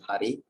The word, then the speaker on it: Hare: The words Hare pronounced as Hare, Krishna pronounced as Krishna, and Rama rhymes with Rama are Sanskrit words.